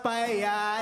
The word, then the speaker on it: paella: It's pronounced paella, eh, eh, eh, eh. No, if people could just get it bloody right, okay? It's not complicated. Two L's is a Y sound in Spain, all right?